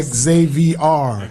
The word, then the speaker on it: Xavr: Xavr. Xav. Xavr.